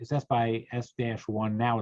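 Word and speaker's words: SxS: the native media for the camera is called s by s that's how it's pronounced uh and uh going up from the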